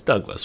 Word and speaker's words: DOGLESS: We are doing a Douglas build today, or aka DOGLESS build as some people would say, but it's Douglas. We all know that's how you say it.